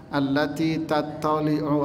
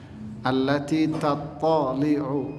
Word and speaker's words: التي تطلع: Ini di ayat ini sering orang bacanya diseret antara huruf ta sama huruf ta nya kegandeng. Sering kali orang baca allati tatali'u 'alal af'idah. Ini yang salah. Di situ ada huruf ta dan ada huruf ta. Ya, perhatikan cara membacanya.